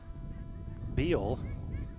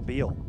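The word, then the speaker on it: Beall: That's number 99, Hillary Beal. Maybe pronounced Bell, but B-E-A-L-L, wearing the 99 jersey.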